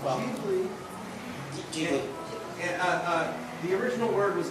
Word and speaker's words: Ghibli: 1984, Studio Ghibli releases Nausicaa? I don't know if I should pronounce that A differently.